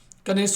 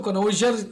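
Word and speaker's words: connoisseur: कनेस कनेर कनेस सुर कनेस बोलते हैं इसको कनोज कनजर मत बोलना कने कनेस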